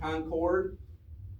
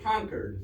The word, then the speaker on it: Concord: Concord, Massachusetts, don't say Battle of Lexington and Concord, because the locals will shoot you. It's Concord, is how that town is pronounced.